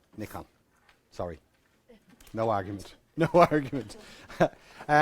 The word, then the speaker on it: Nikon: that Nikon call it, I may say Nikon. That's the right way to say it, by the way. Okay. I had a Japanese student, and I asked her, and she said Nikon.